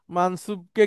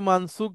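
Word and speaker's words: منصوب: হ্যাঁ, কেউ এই মারফুকে অন্য কিছু বলবেন না, মানসুবকে কেউ মানসুক বলবেন না, মাজরুরকেও অন্য কিছু বলবেন না।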